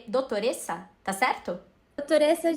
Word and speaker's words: dottoressa: pronúncia errada, porque eu tenho zero conhecimentos dessa pronúncia. É doutoressa, tá certo?